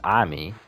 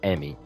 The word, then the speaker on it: Ami: father and then immediately calls her name wrong because her name is ami but he called us he keep calling her emmy her name is ami